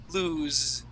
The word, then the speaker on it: lose: Loose, no vibration. Lose, vibration.